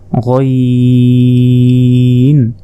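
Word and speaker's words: غ: এক নক্তা এটা হচ্ছে গাইন হলকের শেষ ভাগ হতে গাইন উচ্চারণ হয় এরপর উপরে এক নক্তা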